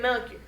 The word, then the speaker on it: Melchior: First we have Melchior.